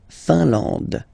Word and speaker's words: Finlande: I-N here, nasal, un. A-N, nasal, en. And then D, final E, not pronounced. La Finlande.